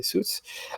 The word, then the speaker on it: Suits: Ensuite, il y a Suits, ou Suits, je sais pas comment vous prononcez, mais normalement c'est Suits.